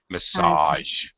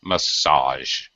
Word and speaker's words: massage: mispronounces this it's the last part is a massage there's no there's no it's two syllables massage it's sound like television Vision massage it's sort